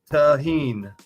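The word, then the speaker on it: Tajín: It's pronounced tahine.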